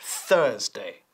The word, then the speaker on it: Thursday: And Thursday, la U, no suena como una U española. It's Thursday. Thursday, not Thursday. Thursday. Y la D de day es muy fuerte. No decimos Thursday, sino Thursday. Casi suena como un T.